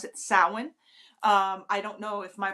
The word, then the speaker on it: Samhain: But I was taught when I started that we pronounce it Samhain.